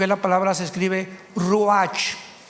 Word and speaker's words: ruach: Biblia la palabra espíritu que es la palabra se escribe ruach r u a c h ruach qu es la palabra espíritu vemos Nosotros